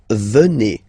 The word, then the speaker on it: venez: Then classic ending for vous, Z here, and then you pronounce it et, vous venez.